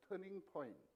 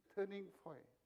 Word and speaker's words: 터닝 포인트: 터닝 포인트. 뒤에 터자를 약간 묵음으로 없이 해야 돼. 터닝 포인트.